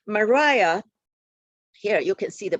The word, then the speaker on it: Maria: longworth nicos and kitayam she pronounced her name mariah mariah here you can see